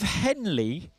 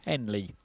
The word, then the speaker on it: Henle: now the loop of Henley is in which organ of the human body I think that's pronounced right h e n l e the loop of Henley is it in a